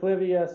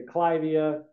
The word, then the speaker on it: Clivia: how to say this because it's named after some aristocrat in England, the Duke or Earl of Clive. And so some people say Clivia, some people say Clivia.